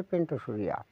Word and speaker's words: Pentosuria: ইউ আর আই এ উচ্চারণ হচ্ছে পেন্টো পেন্টো সু ঋ ঠিক আছে বাংলা উচ্চারণটাও এই রোগটির ইংলিশ নাম হচ্ছে পেন্টোসুরিয়া এবার আমি আপনাদের প্রথমে বলে